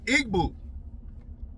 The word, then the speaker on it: Igbo: I igboo.